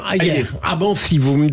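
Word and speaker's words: Hayer: On prononce Ayer, a priori. Ayer.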